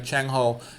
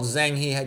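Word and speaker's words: Zheng He: Um here is um China had a guy by the name of Changho. He's also called Zangghi depending on how it's pronounced.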